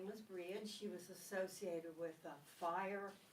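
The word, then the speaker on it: Brighid: And the particular goddess who was celebrated at Imbolc is, her name is Breed, B-R-A-H-I-D, Breed. She was considered the daughter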